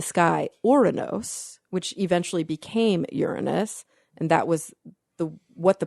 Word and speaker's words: Uranus: So I was like, okay, what about Uranus, which is like the modern way that astronomers pronounce Uranus because they don't want little kids to laugh in the audience.